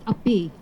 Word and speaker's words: api: In Tagalog, we have a word that's spelled API, pronounced API.